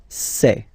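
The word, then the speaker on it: ces: then set here and for the plural say say really open this e say Okay so let's see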